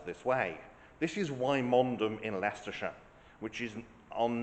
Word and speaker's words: Wymondham: have a name spelled this way this is why mondom in leerer which is on no account to